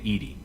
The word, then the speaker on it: EDI: Why are you named Edie? ED is the phonetic pronunciation of EDI.